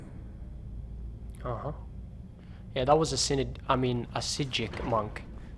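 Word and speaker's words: Psijic: Yeah, that was a Sijic monk. The P is silent, of course. Like in Pumpernickel or Paprika. Or Papastopoulos. Which is a Greek name.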